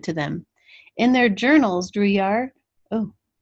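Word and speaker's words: Drouillard: way it sounded to them in their journals drew yar oh it's always drew yay or drewer so it's pronounced drew your d-r-e w ye er is the phonetic spelling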